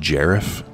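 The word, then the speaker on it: Garif: business do you have with the Gareth link's pronounced jeraf let them pass the responsibility we mine I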